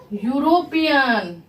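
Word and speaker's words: European: गलत हो जाएगा क्यों क्योंकि इसको हम लोग क्या उच्चारण करेंगे य क्या है यूरोपियन यूरो पियन उच्चारण क्या आ जाता है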